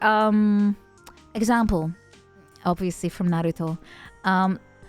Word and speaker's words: Naruto: um example obviously from Naruto um Naruto is how you say it right Naruto but everyone says Naruto because American English Naruto Naruto Naruto but